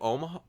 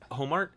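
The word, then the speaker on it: Ohmart: Yeah, Carol Omar. Homart? Oh, that's Yeah. how you pronounce it.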